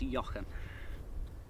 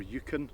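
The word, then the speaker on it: Euchan: Um and this I believe is yan. Yeah, I I'd say more yuken. Yuken. My brother's called Yuan. So EU to me is more a U. So I call it Yuken.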